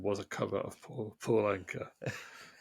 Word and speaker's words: Anka: But anyway, Complete anchor. he did the original Puppy Love. Oh, did he? Yeah, that is Puppy Love by Donny Osmond was a cover of Paul Anka. Anchor is spelled Anka, in case you're getting any ideas.